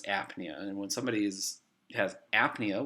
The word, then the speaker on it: apnea: when it's like this the P is silent but you put an A in front of it it becomes apnea and when somebody's has